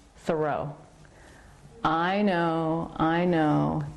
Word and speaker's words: Thoreau: say his last name Thoreau I know I know he probably said Thoreau with the accent on the first syllable I just can't always say that easily so I'm gonna be saying Thoreau throughout the whole video